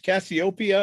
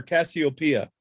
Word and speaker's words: Cassiopeia: Is it pronounced Cassiopeia or Cassiopeia? Either way, I've heard it both ways.